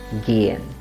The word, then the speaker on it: gehen: That means it becomes gehen and the vowel sound is long. So let's pronounce it gehen.